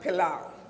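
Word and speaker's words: Palau: two countries are United States of America and pilau it's spelled p capital p-a-l-a-u p-a-l-a-u so it's United States and the country by the name of pilau they have signed but not ratified the convention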